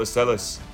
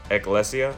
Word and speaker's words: Ecclesia: So, I'll go ahead and special summon Incredible Estella. I keep pronouncing her name wrong. It's Ecclesia, something like that, the Virtuous.